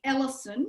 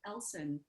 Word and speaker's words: Ellson: pronounce your name so instead of somebody calling me ellison which seems to be a common mispronunciation of my name um i can actually say elsen and then they will